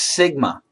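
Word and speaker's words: σ: This is the letter mu, M-U, pronounced mu. It's a Greek letter. Standard deviation, this is sigma, S-I-G-M-A.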